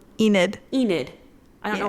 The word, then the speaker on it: Enid: keep saying it wrong Enid Enid I don't know why I want to go Enad Enid um at first I